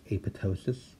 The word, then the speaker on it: apoptosis: photo psious so and remember that second P is silent it's not hate pop ptosis that's a photo sis like in pneumonia or